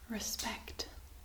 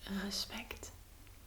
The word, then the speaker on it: respect: Respect. The R is pronounced just a little bit different. So it's respect instead of respect.